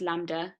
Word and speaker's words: lambda: known as lambda um oh yeah it's just pronounced lambda and it looks like a bit like a